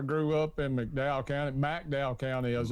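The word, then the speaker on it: McDowell: Uh, I grew up in Mcdow County, Mdow County as it's pronounced local county.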